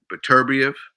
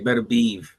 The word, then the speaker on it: Beterbiev: Well, what people would say, what's his Beterbiev and Bivol. That's the right pronunciation of their name. I say Beterbiev and Bivol.